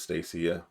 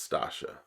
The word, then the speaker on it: Stacia: yeah sasha no stasia i look at it and pronounce this stacia but it's sasha okay i think sasha